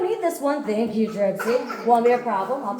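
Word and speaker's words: Tripcie: If you liked me enough, you want to be like, Tripsy was cool. That's spectacular. It's spelled Trip, C-I-E.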